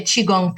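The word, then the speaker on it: qigong: gong g n g sometimes it's spelled differently in different Traditions but if you say chiong people are going to know what you're talking about okay um so yeah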